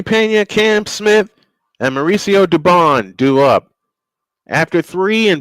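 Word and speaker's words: Dubón: Uh to bat for the Astros will be Jeremy Pena, Cam Smith, and Mauricio Dubone. 67 and 8. Uh Dubon is the correct pronunciation.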